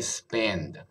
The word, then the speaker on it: spend: 它念 spend。